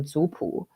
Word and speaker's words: zupu: So the word that I've been using in my presentation has been usually either jiapu or zupu. I'm using the Mandarin Chinese pronunciation here, which literally means family book or clan book.